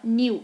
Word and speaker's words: knew: W, mas a gente não fala que knew, a gente fala knew. Esse K, ele não sei por que ele tá ali. Ele tá ali só pra fazer um peso, porque ele não é pronunciado, tá?